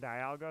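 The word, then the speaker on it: Dialga: Um, I think even Ash has said Diaga and Diego, so they've acknowledged like both are possible pronunciations of it.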